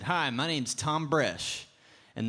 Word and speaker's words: Thom Bresh: said hi my name's Tom Brash and the H is silent like the pee in pool and it took me